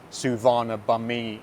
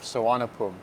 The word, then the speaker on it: Suvarnabhumi: an AI voice because they'd always pronounce it suana bamei instead of suanapum.